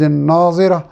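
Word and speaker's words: ناضرة: سے بہت اہم ہے۔ پہلے ناظرہ ضاد کے ساتھ ہے اور دوسرا ناظرہ زوا یعنی زوئے کے ساتھ ہے۔ دونوں کے معنی،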